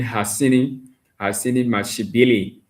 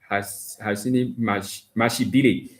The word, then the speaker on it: Hasini Mashibili: To my man Hasini Mashibili, Hasini Mashibili, guys. So that is the pronunciation, but we all from different areas. We won't be able to pronounce it the South African way.